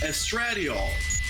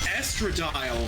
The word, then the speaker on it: estradiol: you is called estradiol we thought it was pronounced estradiol because that sounds like a medicine because it is apparently it's pronounced estradiol for some reason i'm concerned with how fast